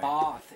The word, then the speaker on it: Bath: But I mean how there's but Bath is very typical. It's Bath. Bath. Bath. It's a very like English way of pronouncing things, but not everything is aw.